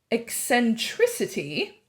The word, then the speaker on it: eccentricity: word for these chapters eccentricity because it rhymes with electricity eccentric is something that's